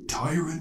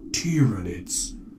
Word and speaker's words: Tyranids: shall show these two is it pronounced tyrant it's tyranids captain what we shall show